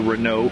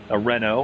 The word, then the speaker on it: Renault: Speaking of which, Spankmeyer, second, as you said, is a Renault for a Renault. I should pronounce it correctly. I'm sounding very much like a Yank.